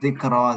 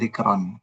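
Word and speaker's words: ذكرى: Lalu zikra, zikra itu untuk contohnya fi'la, artinya peringatan. Jadi kita bacanya mardo, bukan mardon, bukan hublan, bukan zikron.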